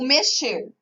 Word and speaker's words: mexer: Vamos pegar o mexer. Então, quando nós pronunciamos mexer, o X da palavra está com som de CH.